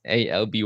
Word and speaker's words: Alby: then we thought uh okay how can we pronounce it differently and then L lb lb and then at some point it was Alby y right the name today and um only